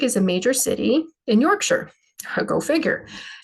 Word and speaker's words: Yorkshire: sausage also a No usually it's pronounced sure on the end um or regionally it